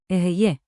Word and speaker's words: אהיה: Aheye.